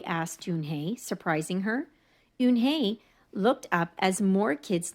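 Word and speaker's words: Unhei: up her face some kids chanted no no Yoon hey corrected it's spelled u n h e i it's pronounced Yoon hey oh it's you hey the boy said like you hey what about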